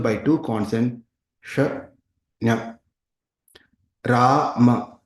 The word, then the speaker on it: Rama: Rama, long vowel A.